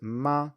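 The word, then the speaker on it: 妈: a different tone so horse is ma with a third tone and mother is ma with a first tone and assuming that you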